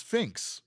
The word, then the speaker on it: PHNX: Arsenal asks, "How do you pronounce phnx eggs?" That's symbol. We've we've established this. It's fin.